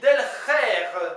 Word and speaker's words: delc'her: breton comment dit-on tenir en breton on dit del d e L C apostrophe h e r